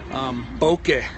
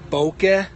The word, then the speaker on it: bokeh: Bokeh.